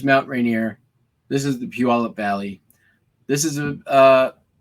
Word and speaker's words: Puyallup: valley in puyallup washington uh puyallup is how you say puyallup it's p-u-y-a-l-l-u-p it's a word that or a place name that it seems nobody but from somebody from washington knows how to say if you all up